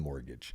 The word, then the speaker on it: mortgage: Like, oh, Karina was today years old when she knew that there's a T in mortgage because most people don't pronounce the T, right?